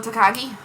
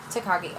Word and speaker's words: Takagi: How do you pronounce the last name? Where where is it? Shingo Takagi. Takagi.